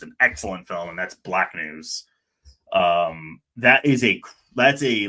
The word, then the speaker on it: BLKNWS: happen, but it's an excellent film, and that's Black News. That's a like experimental documentary, so I'm not expecting it. But if they got in tomorrow, I'd be like, oh, that's lovely. Black News.